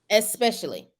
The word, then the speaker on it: especially: Especially. Mm-hmm. Especially. Yeah, there's no X in it.